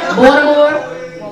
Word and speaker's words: Baltimore: He is originally from Baltimore. You say it right? Baltimore. Baltimore.